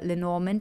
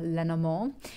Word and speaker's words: Lenormand: to clarify with the lenormand or leno more depends on how you want to pronounce that and let's start with